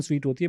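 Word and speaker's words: suite: वाला स्वीट नहीं है, ये SUIET जो फ्रेंच वर्ड है, ये वो स्वीट है। उसकी सही। प्रोनाउंसिएशन स्वीट होती है, बट उसकी स्पेलिंग अलग स्वीट होती जो है।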